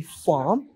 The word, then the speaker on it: farm: say the first point in British accent we do not pronounce the r sound or the r letter instead we just silent